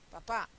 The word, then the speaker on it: papá: papa y papá sí papa sé que tiene que ser una palabra llana porque termina en vocal y no tiene tiene tilde con lo cual sé que tiene que ser papa papá lleva tilde Entonces está ahí Qué es papa pop y papá pues es mi mi papi no calle y cal cal